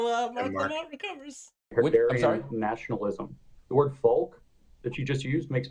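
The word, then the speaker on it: Volk: used it with a spell with a v but it's pronounced folk right and he had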